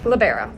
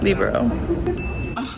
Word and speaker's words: libero: labero labero labero labero labero labero labero labero libero that's the proper way to say it in Europe that's where it came from Nebraska now on top